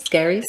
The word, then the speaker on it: Skerries: Is that how you say it? Skerries. Skerries? Yeah.